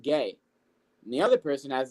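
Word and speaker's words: Gueye: has the last name spelled gu, but it's pronounced gay and the other person has the last name of B O N A.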